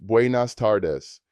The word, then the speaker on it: buenas tardes: Good afternoon is buenas tardes, pronounced buenas tardes.